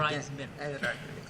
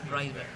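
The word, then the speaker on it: Wrisberg: El 7 bis es el intermediario de Weisberg, como que tienen, pero aquí no dicen cuándo. Reisberg. Ya, Weisberg, ya. Reisberg. Escribe whisper. Pero se pronuncia pronuncia Rice.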